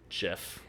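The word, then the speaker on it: Jeph: bridge look it's also a not at the Jeff I know because it wasn't not a Jeff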